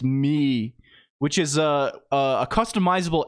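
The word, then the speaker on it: Mii: Anyway, they invented a a MI pronounced MI, which is a a customizable avatar used by Nintendo on the the video game consoles and mobile apps in the mobile.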